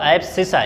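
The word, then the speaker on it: abscissa: क्या बोलते हैं इसको, प्रोनाउंस करिएगा इसको, एब्सिसा इंग्लिश में।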